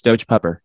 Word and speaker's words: Doge Pupper: Doge PPR is not how you'd say it. I agree with you. It's Doge Pupper.